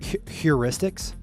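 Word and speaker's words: heuristics: Huristics. Yep, that's great. Huristics is the usual pronunciation.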